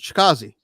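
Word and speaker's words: Chikadze: I can't spell it, but Chikazi.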